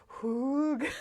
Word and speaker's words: hygge: us feel better and comment that you have also pronounced it incorrectly, and that we all learned together today that it is hoog.